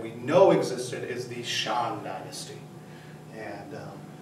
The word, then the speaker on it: Shang: to learn Chinese but notice the pronunciation there are no hard A's no hard vowel sounds in Chinese so there are no Shang there's no Shang there's no Tang there's no Wang it's a it's a